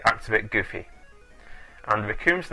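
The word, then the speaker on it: Recoome: And Raccoon's name also rhymes with Doom, as most anime fans will remember.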